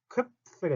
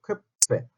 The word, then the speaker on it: Köpfe: 쾌페. 자, 오 옴라우트 발음 어떻게 하죠? 오 한 상태에서 입 모양 그대로 두고 이 소리를 내니까 다시 한번 그래서 쾌페 쾌페 이렇게 되죠. 쾌 하면서 입술이 딱 붙어야 돼요.